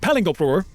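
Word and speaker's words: Palingoproer: It's pronounced Palingopur, and it's ridiculous.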